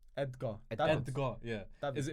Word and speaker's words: Edgar: Is it Edgar or Egda? Edgar.